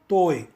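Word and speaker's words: ط: The letter toi is a hard letter, which means to say when the letter is pronounced, the sound will originate in the mouth and also uses the throat sound, whereas the Hindi and the Tamil ta are actually soft letters, which means to say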